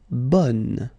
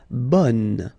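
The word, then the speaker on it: bonne: So bon will become bun. Okay. So the sound is changing quite much because here you've got this nazal bon. Okay. And then bun. Okay. Bun. And then another example min will become minion.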